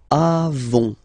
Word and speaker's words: avons: Okay, then nous avons, final s not pronounced, avons.